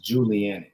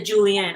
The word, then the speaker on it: julienne: it is julianne the julienne okay okay yeah the process that you're showing us right here the julie the julian um the juliet is a jew how do you say it uh julianne okay and this is